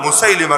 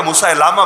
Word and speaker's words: মুসাইলিমা: ছিল যার নাম হলো মুসাইলিমা কাদ্দাব অনেকে মুসাইলামা বলে শুদ্ধ উচ্চারণ মুসাইলিমা মুসাইলিমা কাদ্দাব মুসাইলিমা কাজ্জাব